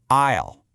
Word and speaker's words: aisle: First up, a really important word, aisle. Now, look at how it's spelled. See that S in there? It's completely silent. You pronounce it aisle.